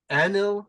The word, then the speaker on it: Anil: And issues 3 for Gret comes out on July 11th, and Anil comes out on August 8th.